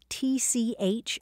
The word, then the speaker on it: tchotchke: T-C-H-O-T-C-H-K-E, tchotchke. Sometimes it's spelled C-H-O-T-C-H-K-I-E, or even T-S-A-T-S-K-E.